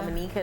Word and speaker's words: Dominica: Dominica is how you pronounce it.